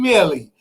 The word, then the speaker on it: Millie: I finally know how to pronounce her name, Millie. Y'all remember I used to pronounce her name wrong, but I know how to say her name.